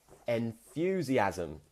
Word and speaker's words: enthusiasm: Some people might say enthusiasm, but if you want to pronounce it really rich and really sophisticated, more sophisticated, you would say enthusiasm, enthusiasm. And making that thew sound can be slightly challenging for some learners.